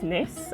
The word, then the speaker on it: gneiss: So we have a picture of, I'm going to say it's gneiss, and the G is silent, and you have quartzite, right?